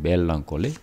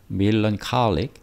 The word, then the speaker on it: melancholic: ever more, 더 이상, 점점 더 이게 melancholic인데 우리가 멜런콜리라고 우리말로는 하잖아요. 멜런콜리. 원래 발음은 melancholic, 우울증에 걸린, 우울하게 되었고, 점점 더 우울하게 되었고, melancholic, 우울하게 되었고, 그리고 became의 대비 stopped, 멈췄다.